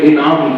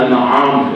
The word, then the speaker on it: انعام: ہمارے بعض لوگ اس سورت کو سورہ انعام کہتے ہیں، حالانکہ سورہ انعام نہیں ہے، اصل اس کا تلفظ انعام ہے.